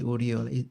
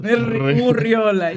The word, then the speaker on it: Urriola: And guys, if you want to pronounce that name, don't just say Oriol. You must learn to Riol. Uriola, yeah.